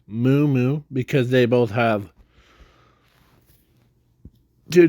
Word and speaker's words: Moo Moo: Not Momo, it's Moo Moo, because they both have